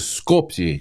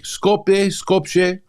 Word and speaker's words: Skopje: It shows he's from, I think they pronounce it Skopje. Skopje.